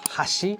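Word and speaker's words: 箸: In Japanese, chopsticks and bridge is both pronounced hashi.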